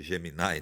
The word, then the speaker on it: Gemini: uso um pouco o Gemini também, né? Uhum. Que a turma chama de Geminai, né? É, pronúncia mais estrangeira aí eh em inglês.